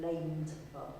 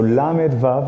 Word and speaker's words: lamed vav: to pronounce it and they called it the lame part that wrong so so the 36 exact exactly so lamed VAV is Hebrew for 36 lamid represents 30 in